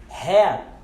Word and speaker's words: hat: Nós temos a palavra boné, hat, não hat, hat, hat. Nós queremos pronunciar o T, mas não pronunciamos, hat.